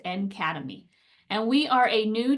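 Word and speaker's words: NCADEMI: accessible digital educational materials and instruction pronounced an academy and we are a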